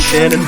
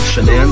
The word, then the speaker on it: Shanann: I've heard some people pronounce it Shannon, but it's spelled Shanann, so we'll just go with that for now.